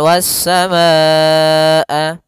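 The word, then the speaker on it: وَالسَّمَاءَ: Pada lafal wasamaa ada bacaan mad wajib muttasil. Mad artinya panjang. Nah, wajib artinya wajib. Muttasil artinya bersambung. Nah, mad wajib muttasil merupakan cabang daripada mad far'i.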